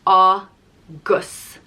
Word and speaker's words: agus: as well august that's and it's pronounced ah gus agus banya agus sugra next